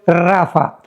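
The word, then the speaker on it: Rapha: Pero se pronuncia en el hebreo Rafa, porque los refaitas, lo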